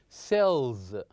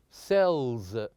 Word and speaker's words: cells: z sound for example cells cells so even if it's written with the S it should be pronounced with the sound like the word buzz buzz so these are the